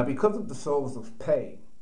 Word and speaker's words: Pei: Now, because of the souls of Pei, pronounced P-A-Y, but written as P-E, Nasser is now reincarnated within me, his name and dates equating all my personal identification codes.